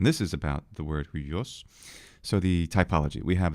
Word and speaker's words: υἱός: because the pronunciation, just both of these really represent the same sort of pronunciation. That is, we have the diphthong of the letter upsilon and the letter iota, right? So that's ui, ui, ui.